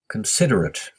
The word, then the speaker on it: considerate: looking for a shortcut so they sometimes jaywalk considerate this kind of last spelling a t e is sometimes pronounced but and sometimes pronounced ate depending on